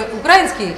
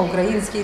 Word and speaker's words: украинский: на Слышишь делали замечание что не украинский а украинский да Вот сейчас понимаете то